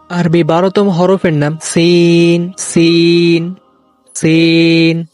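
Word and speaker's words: س: আরবি 12তম হরফের নাম সিন সিন সিন। সিন হরফটি উচ্চারণ করতে যদিও অনেকের ভুল হয় না, তবে সিন দিয়ে যখন বাক্য গঠন করা হয় তখন অনেকে সিনের পরিবর্তে সা উচ্চারণ করে।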